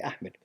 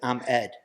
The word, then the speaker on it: Ahmed: how do you say Ahmed Ahmed they took it as I'm Ed and it it stayed